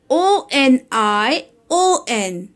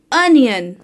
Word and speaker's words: onion: h u m b thumb its thumb b is silent thumb o n i o n it's onion onion w e d n e s d